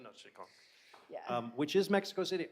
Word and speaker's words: Tenochtitlan: Help me with pronunciation. Tenochtitlan. Tenochtitlan. There you go, Tenochtitlan.